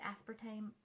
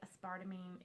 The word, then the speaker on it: aspartame: the classic Sparta mean I always pronounced it aspartame I don't know I never heard it pronounced out loud hardly and apparently aspire to me is the way you're supposed to say it I guess but that